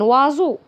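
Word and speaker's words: oiseau: هنا الاو اي بتتنطق وا، والاو اي الاخرانيين زي خدناها قبل كده زي طابلو بيتنطقوا او. ان وازو. او اي اس او ا يو. او اي اس او ا يو. ان وازو. ان وازو. وازو. وهنا حرف الاس قبليه حرف فويل متحرك بعديه حرف فويل بيتنطق زي الزين.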